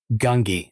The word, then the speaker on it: Gungi: My Star Wars Padawan or apprentice is going to be Gungi.